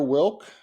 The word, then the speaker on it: Wilck: So my name is Wilk. Rhymes with milk, I like to say.